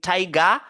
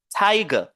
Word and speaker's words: tiger: focalise sur ta maintenant on a g TIG on va pas dire Taiga mais on va dire TIG Tiger ici on a Sam